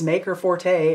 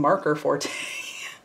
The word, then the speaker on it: Maker Forte: video the other day it was maker forte and i kept saying marker forte i was so embarrassed